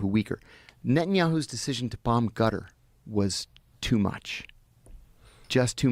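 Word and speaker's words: Qatar: It's called But so I've heard cutter. Yeah. Cutter, but you're saying like a G. They use a G sound.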